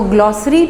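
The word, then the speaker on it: glossary: तो ग्लॉसरी में आपको समझाती जाऊं कि इसकी सही प्रोनाउंसिएशन क्या है। तो ये ग्लॉसरी है, से की साउंड निकलेगी ग्लॉसरी, ठीक है, से की साउंड के साथ ग्लॉसरी है।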